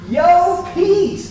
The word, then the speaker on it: Llopis: pronounce my last name so here it goes yo peace do you love that yo peace and why am i